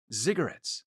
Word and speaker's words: ziggurat: across the world, building ziggurats. It almost sounds like I say a cigarette, but a ziggurat. Maybe that's a better pronunciation.